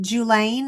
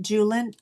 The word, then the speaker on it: Julen: Is it Julaine or Julin? Julin?